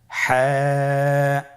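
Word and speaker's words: ح: হা হরফটি কিভাবে উচ্চারিত হবে? হা হরফটি উচ্চারিত হবে কন্ঠনালীর মধ্যখান হতে। গলা চিপে ধরে আপনি উচ্চারণ করুন।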